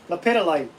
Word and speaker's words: Lepidolite: Lepidolite. Instead of Pedialyte. Instead of Pedialyte, Lepidolite.